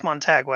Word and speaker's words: Montague: Oh, Sammy wants us to say Montagu. It's Montagway.